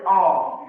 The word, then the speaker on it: awe: A aw bacanya o.